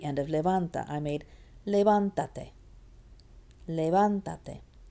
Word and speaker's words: levántate: It's still on the van, except guess what? Now 1, 2, 3. Van is now farther away from the end of the word. It's now 3 syllables or more from the end, 3 in this case, so it gets an accent.